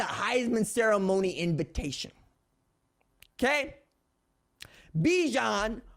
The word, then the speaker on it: Bijan: heisman ceremony invitation okay bijan rhymes with dijon because my man is